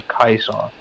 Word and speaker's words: Caesar: They say things weird with the Legion, so they'll say things like, instead of Caesar, they'll say Kaiser.